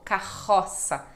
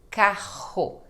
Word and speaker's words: carro: no final de palavra quando são dois RS juntos aí é som de ra também como carroça carro tá bom E aí então aqui temos aquela diferença né carro e caro ó Ro então carro caro vou deixar uma playlist